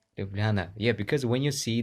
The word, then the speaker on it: Ljubljana: wanted to ask about the right pronunciation of it uh lubliana right yeah great Ljubljana yes Ljubljana yeah because when you